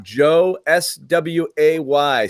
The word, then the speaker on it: Josue: Josue, it's Joe SWAY Sway, correct? Yes, sir. Joe _Sway, phonetically.